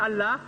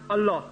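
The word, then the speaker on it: الله: एला ए एल ए वी मुस्लिम न we write in English Allah we write A एल एल एच but reference cough wrote A एल H they pronounce अला we pronounce अल्लाह वन आई वा इन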